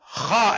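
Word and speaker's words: خ: Number 4, Kha and Ghain, out of 6 huruf halqiyya, last 2 will be pronounced from Indal Halq, the throat which is near mouth.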